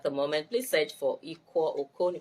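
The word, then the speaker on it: Iquo: Please search for Ikwo Okon. Ikwo is spelled I-Q-U-O.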